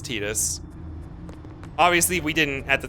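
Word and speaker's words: Tidus: So, the Japanese was definitely Tetus, but also as of Kingdom Hearts, we actually have an official pronunciation for his voice anyways cuz they say it in Kingdom Hearts as Tetus.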